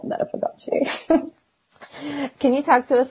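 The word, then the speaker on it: Meta Fagote: by Brazilian composer Felipe Lara, so it's called Meta Fagace.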